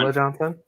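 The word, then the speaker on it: Ulla Johnson: Ula Johnson. That's how you pronounce it. It's Ula.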